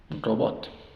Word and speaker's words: robot: lessen vamos con esto robot robat robot robot robot dividimos así silaba abierta la primera suena ou Row Row y la segunda es una sílaba cerrada por lo tanto es suena a at robat robat rat robat